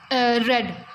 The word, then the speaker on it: read: In past we will write read. Spellings are same but the pronunciation is changed.